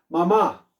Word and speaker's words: mamá: tengo para sí mamá cuántas sílabas tiene mamá 2 muy bien ma ma cuál es la sílaba tónica de mamá está o está la última o la penúltima la última profe muy bien ahí está